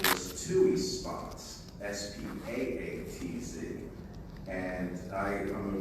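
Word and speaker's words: Spatz: pontiac event there anyway the name was actually spelled s-p-a-t-z and in german that's pronounced spots so the only thing i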